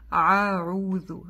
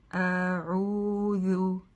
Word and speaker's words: أعوذ: Иногда бывает так, боясь произнести айн, еще и хамзу это читает аруду, а, как будто она тоже айн, нет, а. А-у-ду.